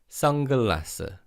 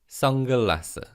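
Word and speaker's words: 선글라스: like ang young the neon in the first syllable almost sounds like young so in fast speech it's sangalasa sangalasa let's practice saying that repeat after me sangha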